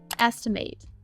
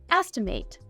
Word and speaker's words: estimate: As a verb, this word is pronounced estimate. It can also be used as a noun. In this case, we'd say an estimate.